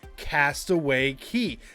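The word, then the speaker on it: Castaway Cay: well that would be Castaway Key now I know it's spelled Cy but it is pronounced key it's a cool Island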